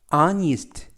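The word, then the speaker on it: honest: 되겠구요 아우 월 아우 월 뜻은 시간 이구요 아니 이스트 아니 이스트 뜻은 정직한 이라는 뜻입니다 와 와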